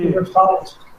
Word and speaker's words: River Fount: Tu prefere a pronúncia River Font ou River Found? Como que... River Fount. River Fount. É a fonte do rio em inglês, né?